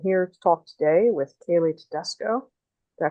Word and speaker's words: Kailey Tedesco: I'm here to talk today with Kailey Tedesco. Did I pronounce that right?